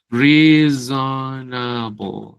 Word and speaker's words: reasonable: Reasonable.